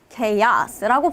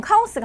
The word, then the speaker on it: chaos: 혼란, 혼돈을 뜻하는 단어인데 내가 리스닝에서 저 단어를 들었을 때 갑자기 나한테 chaos라고 발음을 해요. 그러면 굉장히 혼란스러워지죠. 말 그대로 혼란스러워져요. 왜냐하면 내가 알던 카오스가 아니기 때문에. 이렇게 우리가 겉으로 봤을 때 분명히 철자도 알고 있는 단어야.